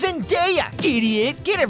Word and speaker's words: Zendaya: It's pronounced Zendaya, idiot.